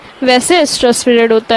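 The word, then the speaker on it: oestrus: ठीक, किस समय डाला जाता है, तो वो है होता है ऑस्ट्रस एस्ट्रस, अब बोलते हैं क्योंकि एस्ट्रस ओ साइलेंट होता है, ओ हट ही गया है इसमें से, एस्ट्रस पीरियड में बॉडी में इंट्रोड्यूस करा दिया जाता है सेमेन.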